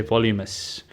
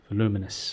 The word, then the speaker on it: voluminous: super blast in which I mispronounce the word voluminous and say volumous voluminous I've subsequently learned how to say the word properly yay me so you